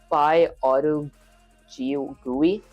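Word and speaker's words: PyAutoGUI: It's pronounced Py Auto GUI. Py Auto GUI.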